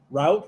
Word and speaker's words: route: And in Canada, route rhymes with about. Yeah, root rhymes with a boot.